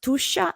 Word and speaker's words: Tuscia: This is pronounced Tuscia, and Tuscia is precisely this territory, this region south of Tuscany in Italy, where I live now, between Florence and Rome.